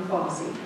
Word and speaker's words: Fossey: So now I'd like to introduce you to Robin Fossey. Rhymes with Bossy.